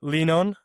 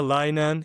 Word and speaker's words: Leanon: So it's leanon. It's not a lion. It's not a lemon. It's leanon. And it came from the word to lean on something.